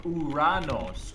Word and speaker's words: Uranus: Sounds like urine. I suggest we use the more mythologically accurate pronunciation which we arenos or uranos.